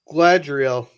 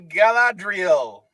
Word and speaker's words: Galadriel: your name was like something like gladreal i'll give it to you it's a galadriel let's go i can't